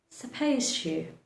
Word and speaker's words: supposed to: The D becomes silent. Supposed to, supposed to, supposed to. So the D at the end of the word supposed becomes silent and you move ahead pronouncing the letter T.